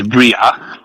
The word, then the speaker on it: Bryagh: Yes, when they ask me how to pronounce my game name, it's Bryagh.